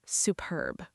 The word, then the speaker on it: superb: It's the word superb. Su perb. Stress on the second part again.